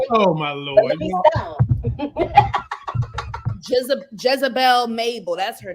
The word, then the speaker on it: Mabel: you say her name like you saying Naval like she's a naval ship yeah she is a ship everybody oh my Lord je Jezebel Mabel that's her name man